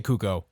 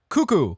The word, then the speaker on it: cuckoo: I'm going to say cucko I'm going to say cucko wait no it's got It's got two o's it's got two o cuckoo cuckoo there we go cuckoo H